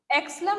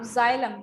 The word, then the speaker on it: xylem: वो क्या करती हैं, वो आप एक्सलम नहीं है, इसकी स्पेलिंग होती है एक्सलम, बट प्रोनाउंस करते हैं आप xylem, क्योंकि एक्स जो है वो आपका क्या है, साइलेंट है यहाँ पे।